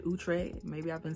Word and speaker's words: Outre: So it's from OUTRE. Apparently that's how you say it, OUTRE.